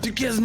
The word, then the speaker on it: Duquesne: Yeah, you pronounced it right the first time. You were right. Duquesne now.